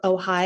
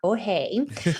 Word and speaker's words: OHAI: looking up yeah so ohigh is spelled oh Ai and it's ohigh not oay um and the website